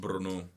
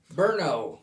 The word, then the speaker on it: Brno: It's properly pronounced Brno. Brno.